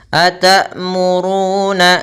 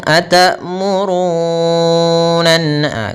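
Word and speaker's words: أتأمرون: ata, jangan terburu-buru, atamurun, tetapi sempurnakan suara hening, ata, di mana suara hamzah ditahan dan napas kita juga ditahan. Atmuruna kemudian 'ru' di sini, kita panjangkan dengan dua harakat, ada wau yang tidak diucapkan setelah huruf dommah, jadi disebut mad thabi'i. Atamuruna, jangan terlalu lama, atmurun...ah, terlalu lama.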